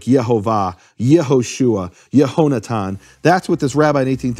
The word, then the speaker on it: Yehoshua: How do I know where this emphasized syllable is in Yeshua? Well, because it can only be the final or second to last syllables. Only the possibilities in Hebrew. You can't have Yahoshua or Yahshua. It has to be Yehoshua.